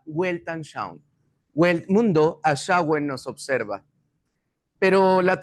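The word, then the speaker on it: Weltanschauung: La palabra proviene del alemán, se pronuncia welltan shown, wel nos observa, pero la traducción y bien sencilla es cosmovisión.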